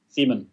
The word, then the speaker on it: Simen: Yeah, SIMEN. SIMEN. That's how you pronounce it correctly.